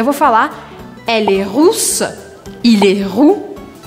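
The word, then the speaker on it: rousse: é vou falar elle russa errou l russo hierro cuidado de não pronunciar riça richa afinal de contas foi isso é russa e não ruiva russa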